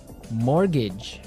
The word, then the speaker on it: mortgage: So this is a funny word. I mean, there's this strange mortgage with a T.